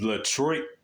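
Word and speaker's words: Ledroit: by the name of L trit it's spelled l e d r o i t you want to to say Detroit but bottom line is his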